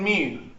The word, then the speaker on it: mu: It's also called X bar and mu. So let's write all that down. The average, the mean, X bar, or mu. Mu is a funky looking M. It's pronounced M-E-W.